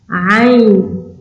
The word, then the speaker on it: ع: Da, Ain, ça vient de la gorge.